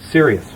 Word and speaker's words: Cyrious: Sirius. You spell it Cyrious.